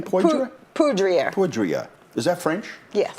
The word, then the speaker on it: Poudrier: Poudrier.